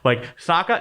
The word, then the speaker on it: Sokka: Character name pronunciations, whatever. The main character is Aang. We're going to call him Ung instead. Sokka, not Sokka.